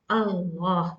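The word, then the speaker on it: الله: Allah. This is hamzatul wasl, and it has to be pronounced when there is no other word before this lafzul jalala.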